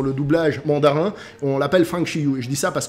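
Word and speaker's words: 方世玉: Ouais, et on dit Fang Shiyu en mandarin.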